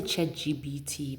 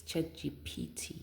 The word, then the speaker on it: ChatGPT: I always say CH GBT, but it's CH GPT. It's just that when you say it fast, sometimes you just don't say it right, you know.